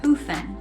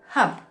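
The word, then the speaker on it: Höfn: is time to leave, not Hufen. We said it wrong yesterday. We asked a local how to say it, and I think she said Hup with like a B sound. Sure, we'll go with that.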